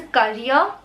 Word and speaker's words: courier: It's not a carrier, it's a courier, courier.